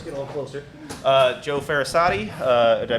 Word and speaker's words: Farasati: Joe Farasati. Did I pronounce that right? Yeah, Farasati. Farasati.